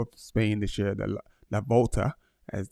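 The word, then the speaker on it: La Vuelta: So that's Wele, and he's like I said, he's riding the Tour of Spain this year, the La Volta, as it's pronounced.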